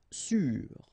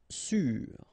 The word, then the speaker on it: sûr: Sûr. Sûr. Okay, even if you've got this accent circonflexe, you don't pronounce it, so you get the same pronunciation, sûr and sûr.